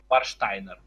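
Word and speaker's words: Warsteiner: Варштайнер. Правильно произносить.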